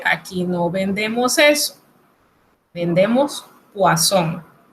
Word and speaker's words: poisson: Si usted ve una sola S en una palabra, se pronuncia como Z, pero si son dos, se pronuncia como S. Ejemplo, poisson, que es veneno, poisson, que es pescado.